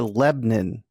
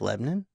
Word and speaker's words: Lebanon: going to Nashville Kyle no you're going to Lebon it's spelled Lebanon but in Tennessee they pronounce it